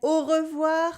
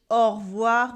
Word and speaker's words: au revoir: you adieu good and au revoir or in everyday spoken french au revoir with the o sound in the middle this time au revoir